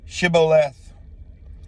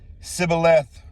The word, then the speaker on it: Shibboleth: If he said no, then they would say to him, please say, Shibboleth. And he would say, Sibboleth, for he was unable to pronounce it right.